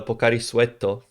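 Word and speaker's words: ポカリスエット: okay yeah it's uh it's a japanese sports drink that is actually pronounced pocari suetto because obviously okay japanese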